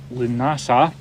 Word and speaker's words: Lughnasa: what is it called how do you say the festival so it's called lunasa yeah and that marks one